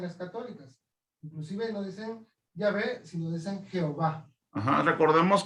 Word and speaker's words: Yahvé: Si nos vamos a la pronunciación más exacta del nombre de Dios, que es yo soy, o yo soy el que soy, vamos a ver que es Yahvé, que es la pronunciación en hebreo.